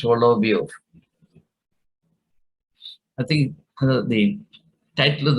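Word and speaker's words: Соловьёв: Pronounced Solovyov.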